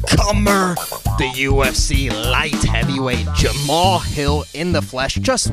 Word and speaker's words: Jamahal: they mispronounce the name they call you jamahal and not jamal they got a lot of mispronunciations i mean but it is what it is i know i gotta my name isn't spelled regularly so yeah so anybody out there is jamal it's just jamal yeah you know what